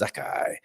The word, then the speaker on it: Zakai: Phonetically, he is Zakai.